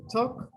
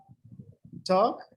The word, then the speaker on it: talk: yes listen to olivia talk talk and talk you don't pronounce the l it's like silence here listen to the lyrium